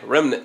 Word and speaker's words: remnant: I'm from the South, and in one of my sermons I said remnant. I just like to add extra syllables. We do that down here. But I'm going to say it right this time.